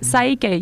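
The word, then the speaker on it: PSYCH-K: No, en realidad es así de simple, es Psyche, ¿no? Meche dice que es como si fuera una palabra japonesa.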